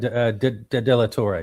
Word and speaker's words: De La Torre: Is that how you pronounce his name? De La Torre, yep.